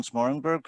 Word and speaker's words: Smoorenburg: with sensei and today we're joined by ron smartenberg i hope we've pronounced that right yep ronzo yeah ron's a